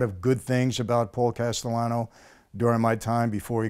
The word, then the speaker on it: Castellano: man you had a situation with a Paul Castellano yes am i pronouncing it correctly that's correct yes okay and